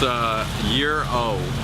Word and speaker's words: gyro: it's called a gyro I say a chicken gyro so I just got schooled on the ways of the Greeks it's a year old but it's spelled gyr